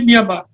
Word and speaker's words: Myanmar: now now become myamar now we call it Myanmar but it's actually myamar so myamar which is